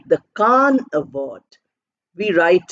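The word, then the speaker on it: Cannes: are also other famous film Awards like the KH award we write c a n n s but we pronounce it as k a n so we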